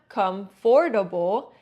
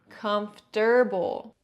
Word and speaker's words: comfortable: That o in the middle often gets reduced and sounds like or even disappears a bit. So it can sound like comfortable. It's not comfortable. It's comfortable.